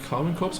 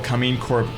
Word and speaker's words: Karmine Corp: Like, I pronounce it like like a German word, so, you know, I shouldn't do that. I should say KARMINE Corp.